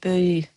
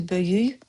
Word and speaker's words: böyük: Now, see böyük, we write, we say böyüy. Biyabırçılıq, we write, we say biyabırçılıq sound at the end. So natives say bu hadisə böyük biyabırçılığıdı. Is as if you either skip böyük, that is, it turns to böyüy.